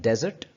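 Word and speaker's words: desert: ये है डेजर्ट और ये है डिजर्ट। ये डेजर्ट है जो कि सहरा है, और ये डिजर्ट है जो कि स्वीट होती है।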